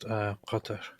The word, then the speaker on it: Qatar: Well, the original Arabic is just Qatar. And since we don't have the sound in any other language, by which I'm exaggerating, the q sound, it gets so difficult.